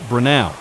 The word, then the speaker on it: Brenau: For the record, it's pronounced Brenau, and they're the ones